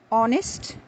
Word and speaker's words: honest: plenty of words where the letter H is not pronounced at all. It remains mute. Now, some of these words are commonly used in our daily conversation, such as our, honest, honor, a.